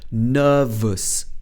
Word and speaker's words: nervous: device to use nervous she uses uh sound again nervous oh at the end